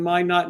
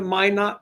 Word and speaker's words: Minot: a fun show in Minot, North Dakota. Have you been to Minot before? I have not. It rhymes with why not.